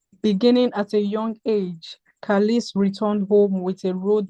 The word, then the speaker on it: Khalis: Am I pronouncing your name correctly? Khalis. Yes, you are correct. It's Kalis.